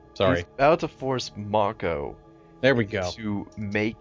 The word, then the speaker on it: Mako: to take he's about to force uh Mo Mako God say his name right sorry he's about to force Mako there we go to make you know into